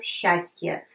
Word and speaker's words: счастье: Have a look, счастье, but we pronounce счастье, happiness, счастье.